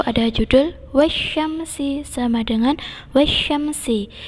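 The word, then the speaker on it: وَالشَّمْسِ: Di situ ada judul wasyamsi, sama dengan wasyamsi. Itu ada tanda tasdid, maka ditekan membacanya.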